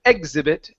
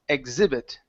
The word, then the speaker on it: exhibit: to this one here this is exhibit instead of exhibit it's exhibit exhibit okay very nice okay